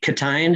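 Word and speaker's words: Ctein: co-writers how you worked with uh was it catin is that how you say his name yes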